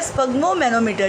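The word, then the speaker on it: sphygmomanometer: स्पग्मो मैनोमीटर।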